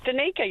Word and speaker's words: Danica: Is it Danica or Danica? It's Danica. You said it right.